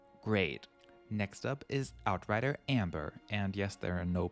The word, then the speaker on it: Amber: Anyway, Amber is not a German name. We would just pronounce her as Amber as well.